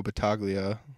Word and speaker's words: Battaglia: did was with Marco Battaglia battaglia is how he pronounces it i'm sorry Marco but